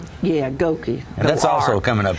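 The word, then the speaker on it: Gokey: And American Idol finalist Danny Gorky, is that how you pronounce that? He's going to be there. Goki, I believe. Goki. Yeah, Goki.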